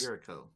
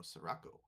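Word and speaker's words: Sirocco: Sperico. Oh, I might be saying it wrong. It's S I R O CC O. Oh, Sarraco.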